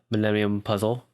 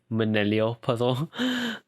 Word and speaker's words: Millennium Puzzle: He also calls me out on mispronouncing Millennium Puzzle. I said the Millennial Puzzle.